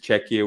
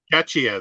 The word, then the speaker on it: Czechia: the Americans will confuse czechia with chechnya so um yeah don't pronounce it catchier then it is well it is czechia